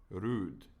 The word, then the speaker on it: rude: Oh, the O on road is not pronounced as O, but rather an U. Rude. So it's like rude.